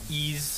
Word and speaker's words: Ys: I've been thinking about getting that ease. How do you pronounce YS?